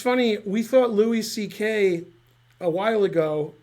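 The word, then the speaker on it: Székely: is his name was Szekely, which is Hungarian, but it's pronounced like C.K. It's not pronounced Zekely like you would pronounce it.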